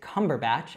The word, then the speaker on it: Cumberbatch: So altogether, Cumberbatch, Cumberbatch. Now, he's British, so the more correct way to say this would be like Andrea would say it. So I would say Benedict Cumberbatch, and she would say, I call him Benedict Cumberbatch.